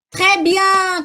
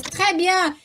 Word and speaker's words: très: Olha só, o agudo fecha, T, e o grave abre, Thérèse, Thérèse, tá? Então, é a mesma coisa quando eu falo, por exemplo, très bien, quando eu falo para vocês, très bien. Então, o acento grave, ele abre o som do E.